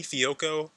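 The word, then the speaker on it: Fehoko: number fourth spot between semi fioco had to look up how that name was pronounced but that is indeed how you say it and then Jalen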